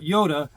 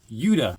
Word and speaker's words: Yuda: No, not Yoda, Yuda.